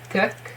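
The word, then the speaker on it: Leeteuk: Okay, so this is U. It's like the French U, which is pronounced as U. My language also has U in it, and I hear a lot of people pronouncing it Eeteuk. So it has something in it. So it's not clearly an U, it has some E-ish sound in it, but it's a lot more closer to U than E.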